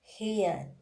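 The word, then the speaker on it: heir: Now let me tell you first which is the silent H, like honor, honest, hour, hair, H-E-I-R, hair. This kind of words, H is silent.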